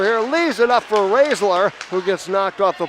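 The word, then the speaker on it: Roesler: R-O-E-S-L-E-R, pronounced Raisler.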